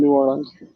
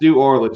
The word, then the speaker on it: New Orleans: with my dad tj my dad always said new orleans new orleans new orleans four syllables and like dad it's really more like two but it could be extended to three but it's not new orleans this looks like we're in orlando it's new orleans that's what it is